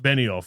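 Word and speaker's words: Benioff: David David Ben off. Beni off. That's how you say his name.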